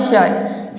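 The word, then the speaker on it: shirt: तिथि क्या है एडमायब्रांड यदि किसी वर्ड में आई के बाद आर हो तो आपको आई को अ प्रोनाउंस करना है फॉर एग्जांपल शर्ट शर्ट में आप देख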